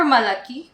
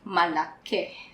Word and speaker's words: malaki: So say for malaki, malake. Malake, As well, okay. yes. But for us, since we're trying to learn the language and we're introducing all the rules, so let's follow the proper spelling for now. No, so lalaki and malaki with an I.